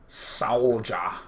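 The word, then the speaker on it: Sowljah: From Soulja. I know it's Soulja, but it's spelled S-O-W-L-J-A-H.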